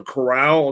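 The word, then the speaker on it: Corral: it's the guy from ole miss was a chorale is how you pronounce it um and again i think he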